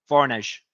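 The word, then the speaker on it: Voronezh: than halfway to Moscow also how do you pronounce this so I get it right finally varnish correct thanks also yes okay foreigners is more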